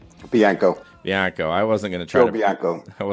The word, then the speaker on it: Bianco: or what what's your last name biano biano I wasn't going to try biano I wasn't try to pronounce it so he wrote the wrote the